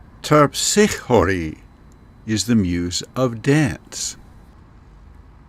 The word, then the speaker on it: Terpsichore: should warn you that I'm trying to use the original Greek pronunciation, and most of the time you will hear the names of the Muses pronounced in an Americanized or anglicized version for the English. So the way you will hear them pronounced elsewhere might sound different from the way I'm saying them here.